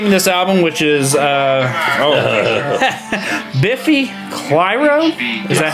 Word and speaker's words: Biffy Clyro: 2 years later, So whenever you first gave me this album, which is Biffy Clyro, is that how you say it?